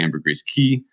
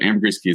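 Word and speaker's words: Ambergris Caye: incredible island called the Amber gree key uh I'm just going to go ahead and spell that for anyone listening so a m b r g r i s and then key is c a ye um so Amber GRE key say gorgeous island off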